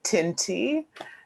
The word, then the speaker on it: Tinthi: mind um hi i'm tinty i'm just gonna let everyone know that the h is silent um so it's just